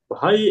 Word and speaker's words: Baha'i: Baha'i is how to say it, religions.